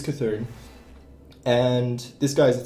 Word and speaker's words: Cthulhu: It's not Seathun. No, don't say it like that. It's Cthulhu.